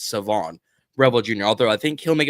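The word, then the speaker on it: Shavon Revel Jr.: to the fellas it's Savon Revel Jr not sioban the H is silent it's Savon Revel Jr although I think he'll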